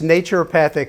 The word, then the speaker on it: naturopathic: but Patrick medicine yeah it's naturopathic like nature and naturopathic medicine basically